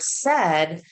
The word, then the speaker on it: said: And I'll say, "Yeah, but in the word said, that e is spelled with a i."